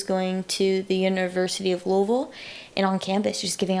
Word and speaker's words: Louisville: friends that are from Louisville. You got to say it like you got molasses in your mouth, you know. Like missing missing letters.